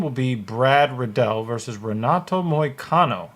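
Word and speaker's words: Renato Moicano: be Brad Riddell versus Renato Moy Cano or henato moyakano for some reason in uh Portuguese they don't like to pronounce a bunch of letters they'll spell it but they won't pronounce it okay uh damn the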